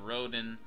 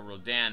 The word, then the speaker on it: Rodan: and we also have roden or rodan however you want to pronounce it and mothra so i